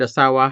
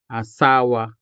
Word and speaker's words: asawa: of this syllable, because this word asawa has 3 syllables, a, sa, and wa. Therefore, it is considered as a full-blown syllable. So again, wasay, wasay, asawa, asawa.